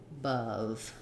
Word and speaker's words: above: of above but i can think about it just sounding like uh above same vowel in both it's just that the first unstressed wall is short uh and the above is held longer but my tongue is basically in the same position for both of them above um i do